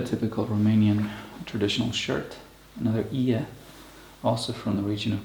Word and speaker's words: ie: It's called an ie. It's spelled I-E.